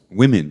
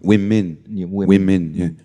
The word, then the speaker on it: women: So here we have an O and an E, and both of them is pronounced as the short I. Yeah. Women.